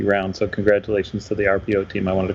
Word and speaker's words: Arpio: Yeah, and for people listening, RPO or watching, I guess, RPO is spelled ARPIO.